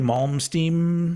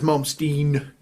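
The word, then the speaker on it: Malmsteen: Ingve Mommstein. It It is Ingve Mommstein. Is it Mommstein or Mommste? No, it's momstein.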